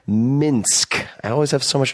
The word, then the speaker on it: Minsk: and was born in Minkx, not Minkx, Minsk.